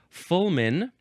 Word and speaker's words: fulmine: Uh, no, no, it says you're supposed to pronounce it Fulman.